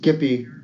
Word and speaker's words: Gippy: Gippy, soft G, yep. Gippy, yep. Soft G.